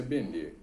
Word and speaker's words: Bennett: Eu não sei se tem gente que fala Benet ou Joey Bennett. Eu acho que está mais para ser Joey Bennett, mas me parece que numa entrevista que ele deu, ele fala que a pronúncia é Benet, Joey Benet.